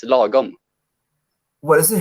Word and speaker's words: lagom: It's lagom.